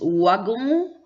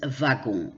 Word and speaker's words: wagon: W, souvent, pas toujours, mais souvent, on prononce aussi comme le V. Mais il y en a, ça dépend. Parfois, les gens disent wagon, parfois, les gens disent wagon. Ça dépend un peu de la région.